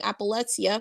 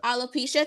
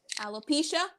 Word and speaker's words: alopecia: she is currently battling appalexia I hope I pronounced it right uh alopecia thank you Corey alopecia and she uh did not